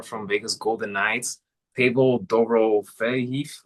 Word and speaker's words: Dorofeyev: I repronounce his last name. And I think they pronounce it Dofeyev. That's what I heard them say because I had to go check too myself. So I think that's how they were pronouncing it, Dofeyev.